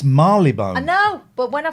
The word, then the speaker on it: Marylebone: It's not pronounced Marylebone. I know. It's Marylebone.